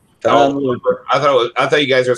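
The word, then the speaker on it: Luper: Nah, it's spelled with a U. Oh. Looper. Tom Looper.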